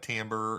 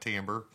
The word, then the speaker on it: timbre: to me this says timber not timbre t-i-m-b-r-e would be timbre or i don't know however you want to say it i'll jump back and forth between tambour and timber but i think it's pronounced timbre in any case the